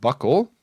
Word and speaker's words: buccal: Buccal sometimes pronounced buckle.